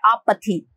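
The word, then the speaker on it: apathy: अपैथी means होता है, देखो इसको दो तरीके से प्रोनाउंस कर सकते हैं, एक तो आप पैथी कर सकते हैं या अपैथी कर सकते हैं, दोनों तरीके से हम अपैथी, कुछ लोग पैथी इसको बोलते हैं, बट इसका जो करेक्ट प्रोनाउंसिएशन है वो है आपैथी, आपैथी, ठीक है ना।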